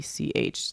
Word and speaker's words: Czech: How do you Czech? That country. Czech. See, Czech Republic. I always want to put in the like Z. Yeah, so Czech. It's like Czech.